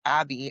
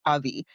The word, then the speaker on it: Abby: My friends and family call me Abby, and in Spanish it's Avi.